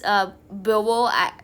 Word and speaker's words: Beauvoir: I don't know how you pronounce this Beauvoir.